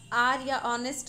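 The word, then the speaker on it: honest: ऑनेस्ट हो गया मतलब ह जब ओ के साथ आता है वॉवेल के साथ तो ह साइलेंट हो जाता है याद है ना honriya हावर नहीं कहा जाता ऑनेस्ट कहा जाता है इस सेंस में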